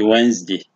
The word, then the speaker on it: Wednesday: Sometimes we say Wednesday, and that is a spelling pronunciation. When you say Wednesday, Wednesday is the spelling. So when you say Wednesday, is the spelling pronunciation, while the correct pronunciation is supposed to be Wednesday.